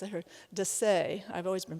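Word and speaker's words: Dessez: It was designed, by the way, by Leon, and now I see his name is pronounced, I heard, Desai. I've always been pronouncing it Dessa, so I'm corrected now, who designed that Kanawha apartment that you saw earlier.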